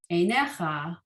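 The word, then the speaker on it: עֵינֶיךָ: And the final one, einecha. And then to the left, there's just the one yud, not the second yud, einecha.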